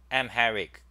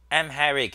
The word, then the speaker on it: Amharic: let's look Amharic okay this is how you pronounce it this is IPA so it's M Herrick Amharic Amharic is one of the Ethiopian somatic Semitic languages